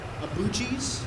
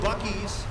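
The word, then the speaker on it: Buc-ee's: route but we got to go see uh abuji's is that how you say it gucci's bucky's buckys oh buckies yeah so we got to go see a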